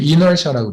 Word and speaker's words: inertia: 그러면서 우리 신영 사모님 같이 미국 한복판에 사시는 분들은 그래서 굳이 미국 사람 발음을 하면 inertia라고 그래요.